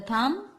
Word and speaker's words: thumb: So where is the thumb? Yes, here. So we write thumb here. T-H-U-M-B. So which is the silent letter here? Yes, B is silent. Thumb.